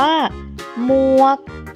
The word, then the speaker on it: หมวก: เลย นะ คะ ทำ นี้ ออก เสียง ว่า หมวก หอ มอ อัว กอ หมวก ค่ะ หมวก อยู่